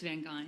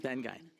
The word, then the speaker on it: Vany: it right is it van gain or van Sher your your your issue it's vany like van gy perfect thank you um